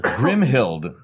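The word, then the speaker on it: Grimhilde: as well as Bugs Bunny yes and queen grimhild grimhild thank you both say it like we knew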